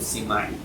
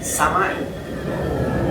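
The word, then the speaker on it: سماعي: Ente juga salah nyebut simai. Itu karena guru kita bilang simai. Kalau sorobnya nggak boleh simai, samai.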